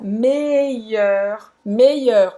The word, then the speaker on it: meilleur: Então, le meilleur, presta atenção na pronúncia, meilleur. Então você vai fazer mei, o i longo, mei, e depois esse som, faz a boca do O aberto e fala é. Meilleur. E termina com o R no final.